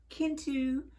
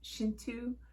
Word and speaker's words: Kintu: and that one is I called it Kintu, but I believe it's Shintu. It's not pronounced with a hard K sound.